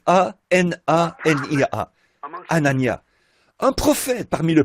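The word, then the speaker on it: Hanania: Anania, je pense que ça doit se prononcer comme ça. H A N A N I A.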